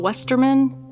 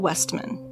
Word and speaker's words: Westman: the Benson estate wrong I called him Carl Westerman and it's Carl Westman I will attempt to get it right throughout this one but I'm going to say it wrong again so every time you hear me say Westerman you got to correct me it's Westman can I just call